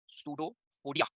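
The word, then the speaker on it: pseudopodia: Spelling है सूडो पोडिया, पोडिया बोलेंगे, पोडिया नहीं, पोडिया।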